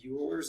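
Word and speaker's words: Euler: e as its power which is ul's number or Oiler number depending on who you ask how they say it um but that it's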